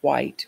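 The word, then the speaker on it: Whyte: is a poem that I'll read from David White which is spelled w-h-y-t-e so I offer it here as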